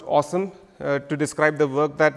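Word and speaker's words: OSEMN: data products there's a really cheeky acronym pronounced awesome to describe the work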